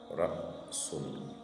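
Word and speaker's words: رأس: Donc, du coup, le son sera prononcé mais coupé au milieu.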